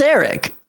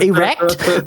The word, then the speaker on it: Erek: Oh, that's Eric. How do you say it? Erect?